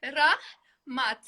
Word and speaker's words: Rahmat: We say Rahmat. 2 syllables. Rahmat.